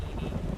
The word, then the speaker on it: Edie: I thought it was pronounced Eddie, but it's pronounced Edie, or something like that.